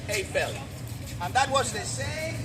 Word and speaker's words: Eiffel: We say Eiffel. In France, they pronounce it the French way. A fel.